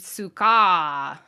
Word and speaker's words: Suka: uh s-c-a-r so scar in japanese her name is spelled s-u-k-a-a uh the japanese word for scarf is sukafu so for her name they literally just dropped the last syllable so it's suka and it's supposed to be